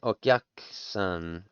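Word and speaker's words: お客さん: It's hard to elongate and truncate a syllable at the same time, I found. In English, but that's what's happening here. Okyak-san, okyak-san.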